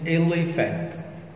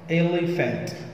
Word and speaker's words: elephant: ألف، يبقى دي كلمة elephant، elephant، وطبعا هنا آخرها كلمة ant، A N T، elephant، elephant، والـ P والـ H بتنطق F.